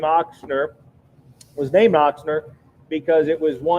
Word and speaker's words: Ochsner: The name Ochsner, and in German it's spelled with or pronounced with a big ox.